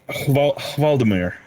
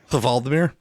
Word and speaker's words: Vladimir: Well, I don't, but it's Valdemir. Valdemir?